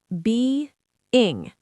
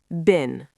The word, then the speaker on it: been: being being And now the other one. bin Make it short.